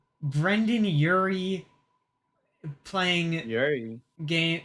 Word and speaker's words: Urie: playlist just titled "Period," and it's a bunch of it's Brendan Urie playing Yuri. game. It's spelled Urie. You're right. Yuri.